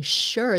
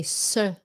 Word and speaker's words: sure: was w-a-s was his and then sometimes the s sounds like an s-h like sure sure sure um sometimes